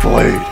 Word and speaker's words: bladee: first of all Jesse it's pronounced blade just except I like